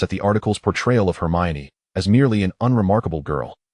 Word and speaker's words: Hermione: Hermione smiled, shaking her head in gentle correction. "It's actually just Hermione."